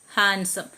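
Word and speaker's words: handsome: നോ നീ അടുത്തത് D silent D വരുന്നത് ബാച്ച് എഡ്ജ് ഹാൻഡ്സം ഇതിലെല്ലാം ഡി സൈലന്റ് ആണ് ഇത് എക്സാമ്പിൾ കുറച്ച പറയുന്നുള്ളൂ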